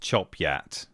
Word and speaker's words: Chopgate: Chopgate is the worst to pronounce, I think, because how could you get it wrong? Well, Yorkshire has decided it's pronounced Chopat. Okay, sure.